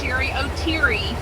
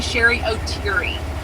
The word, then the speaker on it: Sherry O'Teary: confirmed to us that it is definitely pronounced Sherry O'Teary. And not Terry. Because she actually corrected them one time whenever they said it. So she's definitely Sherry O'Teary.